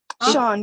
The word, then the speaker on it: Sean: So we decided that is your name pronounced Sean? Sean, yeah. It is.